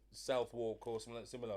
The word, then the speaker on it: Southwark: The thing is, it's weird with London because there's places with old pronunciations like Greenwich instead of Greenwick, Yeah, I used to say Greenwich. and Southwark Greenwich.